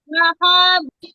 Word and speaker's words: لهب: سيصلى سيصلى نارا ذات لهب লাহাব টান হবে না।